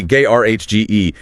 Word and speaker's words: garage: stress on the second syllable. Open mouth.